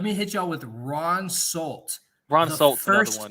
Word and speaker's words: Solt: How do you even spell that name, dude? Ron Solt. It's S-O-L-T.